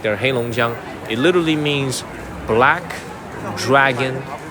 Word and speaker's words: Heilongjiang: We are in the city of Harbin, but the name of the province, the name of the state is called Heilongjiang. 3 syllables, Heilongjiang. Okay, that's the name of this place.